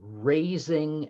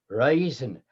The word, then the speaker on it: reason: The word reason, R-E-A-S-O-N, had similar pronunciation to raising and rising. Raisin, rising, rising, fueling a lot of Shakespeare's many erection jokes.